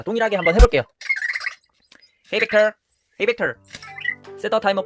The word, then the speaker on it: Vector: 그렇게 설정했을 때는 Hey 이제 V자 발음이니까 Vector, 네, 뒤에는 털자, 시작은 V자로 해서 vector 뭐 이런 식으로 하면 되는데요.